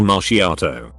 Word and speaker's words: macchiato: and repeated it back correctly as a caramel macchiato he was not joking and called me pretentious for pronouncing it correctly and to not name drinks